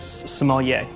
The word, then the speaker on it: sommelier: restaurants wine steward Mike the correct answer is sommelier or I can spell it that is correct and you pronounced it